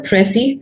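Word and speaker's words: précis: in the slide says it is a french word and that's the reason why we pronounce it a little differently uh as against the english pronunciation uh although it's not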